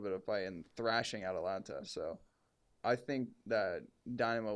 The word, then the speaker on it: Atalanta: Atlanta versus Dynamo. Atalanta. Yeah, Atalanta. I don't know why I just pronounced that wrong.